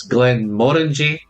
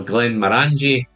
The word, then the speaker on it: Glenmorangie: believe for some reason that it's GLENMORANGIE or GLENMORANGIE, depending on how your pronunciation is.